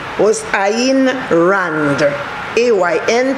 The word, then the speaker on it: Ayn: name was ayn rand a y n pronounced ayn randa a writer and